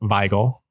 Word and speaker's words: Wigle: a man named philip veigl uh he was a an immigrant of german and scottish dis heritage i believe he would have been uh german in any case he would have pronounced it veigal and he was one